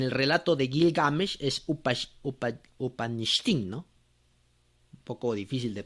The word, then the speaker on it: Utnapishtim: Vamos a ver. ¿Dónde lo habíamos copiado? Acá. Aquí al último me parece. Upanishtim. Bueno. Entonces, aquí está. Utnapishtim. Upnapishtim. Ese es el nombre.